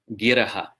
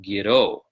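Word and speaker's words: giraḥ: a Siddha Yoga background, you've learned this verse with the pronunciation stotrani sarva giro. But that is a sandhi change that is only permissible if there's no breath between that word and the following line.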